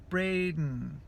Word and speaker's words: Braden: perguntas sobre meu nome, que meu nome é Braden. Porém, a maneira que eu pronuncio não é Braden, que tem um D no meu nome, né? Mas não é Braden que eu falo Braden, que é um dos sons super difíceis do